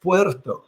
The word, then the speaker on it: Puerto: It's pronounced Puerto. Puerto. The Puerto Tributo. Yeah. Can you roll the R like that?